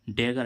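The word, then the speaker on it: dagger: जैसे हम देखें डी A double ji ई आर डेगर। डेगर means क्या होती है? कटार। तो देखो इसमें डबल जी आ रहा है। डबल जी के बाद क्या आ रहा है? ई। लेकिन फिर भी इसका उच्चारण क्या निकल रहा है?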